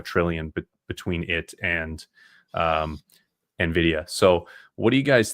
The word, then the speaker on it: Nvidia: Bitcoin temporarily hit right above Amazon here be uh before Nvidia. Um sorry, Nvidia. I always mispronounce that.